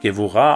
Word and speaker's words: Gewurah: ausgesprochene Konsonanten verwendet werden, werden diese hebräischen Begriffe wirklich Malchut und Gevurah ausgesprochen und sollten daher auch mit den entsprechenden Buchstaben des lateinischen Alphabets korrekt transkribiert werden. Das Bet, also B, wird zum W und das Kaf, also K, wird zum Ch.